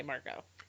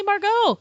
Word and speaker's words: Margot: if it weren't margot then wouldn't they say marco they would say margot because it's lay so may so her name must have been margot yeah maybe she's like